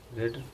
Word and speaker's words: read: लगा दीजिए, not being रेड रेड का स्पेलिंग जानते ही हैं, READ, रेड। रेड, रीड को रेड बोलते हैं।